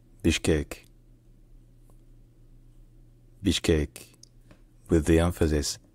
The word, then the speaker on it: Bishkek: Landscapes of kown in kurz the city is pronounced Bish cake Beach cake with the emphasis on the last level Bach cake Bish cake Bish cake all right if you enjoy learning